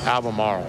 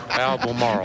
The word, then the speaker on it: Albemarle: No, Albemarle. Marl? Albemarle.